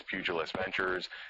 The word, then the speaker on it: Pugilist Ventures: with the president he wasn't sure how to pronounce the name and I said it's pugilist ventures and this is sort of like the derivation